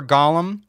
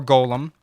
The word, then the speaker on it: golem: A copper golem, or golem, depending on how you say it.